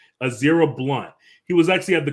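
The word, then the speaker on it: Ezra Blount: this uh kid his in his name is pronounced azera blunt he was actually at the concert with his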